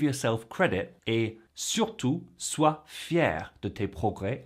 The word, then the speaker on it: fier: below saying Je suis fier de moi et de mes progrès. That's fier, F-I-E-R, for the guys, and fier, same pronunciation as far as I know, F-I-E accent grave, R-E, for the ladies.